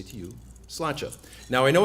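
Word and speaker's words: sláinte: and have one word to say to you slacha now i know it's cilantro because i think a lot of you have probably butchered it over the weekend it's s-l-a-i-n-t-e and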